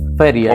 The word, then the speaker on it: Feria: Is it Feria? Is that how you pronounce it? I mean, you can say however you want. It's Feria, you know. Feria. Okay, there you go.